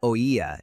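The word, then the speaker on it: oía: The word oya is the only word in Spanish that has three syllables and three letters. It is the imperfect past tense conjugation of the verb oit and each syllable is a vowel. Since it is a grave word, its stressed syllable is on the second letter.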